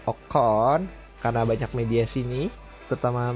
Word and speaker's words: Ocon: dari sang debutan yaitu Esteban okon bukan ocon dibacanya tetapi okon karena banyak media sini